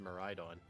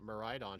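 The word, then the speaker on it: Miraidon: on it I know so it made sense that maridon should be the same way but apparently Wolfie says uh miradon and I'm like what this doesn't make sense I saw a video when he was talking about it he says uh miradon and I get really thrown off it's it's like because it's like a mirage miradon I think but I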